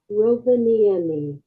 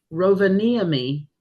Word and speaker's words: Rovaniemi: I saved the pronunciation. Slow. Rovaniemi. Rovaniemi, Lapland is where this is.